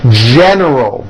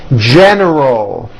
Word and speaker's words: general: General. Don't forget the L at the end of that word. General.